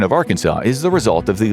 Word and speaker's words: Arkansas: It's pronounced Arkansas, not Arkansas.